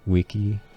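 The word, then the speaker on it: vici: That's why I said Wenny, Witty, Wiki, and C's are pronounced as K's.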